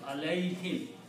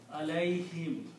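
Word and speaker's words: عَلَيْهِمْ: Him, alayhim. Instead of alayhum, alayhim. Ease of pronunciation.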